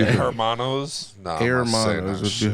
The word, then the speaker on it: hermanos: Amanos? Amanos. That's not how you say it? Amanos? It's like drawn out with a little bit of S at the end of it? Amanos? It's H-E-R. Hermanos.